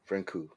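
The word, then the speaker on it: Francouz: Paul franu yeah franku franku you don't pronounce the Z that's awesome um Nick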